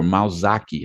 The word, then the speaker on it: Malzac: Again, it's the picture of Dr. Helena Malzac, or Malzaki, how they might pronounce it in Brazil. Gynecologist Helena Malzac became a defendant in